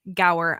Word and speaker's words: Gower: and his name is Brian Gower I hope I did not completely like just brutalize your last name there Brian did I say it right it was perfect okay you should have